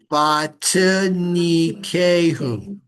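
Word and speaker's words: וַתְּנִיקֵהוּ: So we pronounce that bate Vatinikehu. Vat. That's a silent vowel. Vatinikehu. Who. I guess so it would be bate. Who. That's right. That's right. The Dagish makes it vatinikehu.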